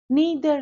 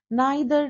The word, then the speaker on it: neither: Neither nor or you can also pronounce as neither nor.